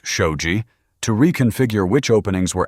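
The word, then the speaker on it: shoji: Traditional Japanese homes used sliding shoe panels, pronounced shouji, to reconfigure which openings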